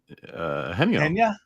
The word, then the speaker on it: Eugenio: Pete, I think we've been mispronouncing Eugenio's name all this time. He said it's pronounced Henyo. Henyo? Wait. Genio. No, Genio. Oh, right below that he says it's pronounced like Henyo.